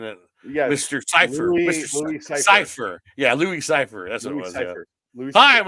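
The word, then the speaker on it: Louis Cyphre: not even an anagram it's basically separate it's like pronounced the same it's like Lucifer right isn't it Mr Cipher Cipher yeah Louis Cipher that's CER hi I'm Lou Cipher how you doing yeah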